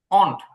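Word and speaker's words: won't: কিন্তু ব্রিটিশ যে উচ্চারণ ব্রিটিশ উচ্চারণ হচ্ছে অনট ওন্ট সরাসরি আমাদের হতেছে ও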